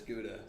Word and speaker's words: Gouda: gout gout Oh Gouda I call it good and we call it Gowda what do you call it how that guy's it's got something in this throat now you're missing you're mispronouncing it Richard it's Gouda saying the word yeah